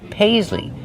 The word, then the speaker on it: paisley: Paisley. Use the long A like say and pay. Pays. Use the Z sound like zebra. Paisley.